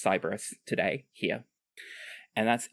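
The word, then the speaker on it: Siberys: at me there are lots of ways to pronounce this cus cyberus it it's cyberus today here and that's s i b e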